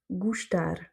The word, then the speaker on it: gustar: De la même manière, gustar. On est dans le même cas de figure, c'est le R qui est tonique, et du coup le O d'avant se prononce OU. Gustar.